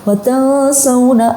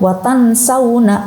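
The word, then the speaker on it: وتنسون: Nah, yang seharusnya dibaca ikhfa dibaca izhar seperti dalam kalimat watasawna anfusakum. Kemudian dibaca jelas nih karena belum tahu tajwidnya, dibaca watansawna anfusakum. Lah, ini kurang tepat.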